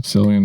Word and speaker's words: Cillian: was something they asked, is it Cillian Murphy? Is that how you say his name? Yes. Cillian Murphy.